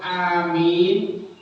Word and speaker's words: Amin: seorang yang bisa dipercaya tapi kalau Amin itu artinya panjang a-nya panjang mimnya panjang bacanya itu adalah Ya